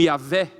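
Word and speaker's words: Yahweh: teologia a gente vê, Y, WH, a gente pronuncia como Yahé.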